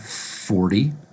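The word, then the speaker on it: forty: a t and 40 we're going to pronounce it with a D sound 40.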